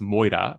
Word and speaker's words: Moira: And mira, in English, it's usually referred to as moira, but it's mira, the way it's pronounced in Greek, which is essentially fate.